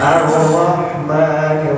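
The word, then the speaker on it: الرحمن: Tafhimur ra itu ra-nya harus ditebalkan. Makanya kenapa bacanya Ar-Rahman, gak boleh ar gitu. Ya. Nah ini kalau ditanda ini sebetulnya warnanya ini biru di bawah nih. Ya kalau di bawah punya Al-Quran mushaf yang ada tajwidnya, nah, itu ra-nya ini dibacanya tebal ya. Jadi Ar-Rahman gitu, bukan gitu. Jadi nggak boleh digetarkan gitu karena dia tebal ya.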